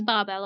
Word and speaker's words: Babel: we are going to we are going to pronounce it in the Hungarian way so it is Babel okay she takes a